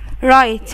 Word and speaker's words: write: Write, يكتب. وعندي W silent مش بتتنطق.